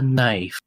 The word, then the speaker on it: knife: all this all about this is called a knife yeah the K is silent this is this is a night mhm